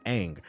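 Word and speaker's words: Aang: Nobody stopped to pull the show up and see that his name is pronounced Ang.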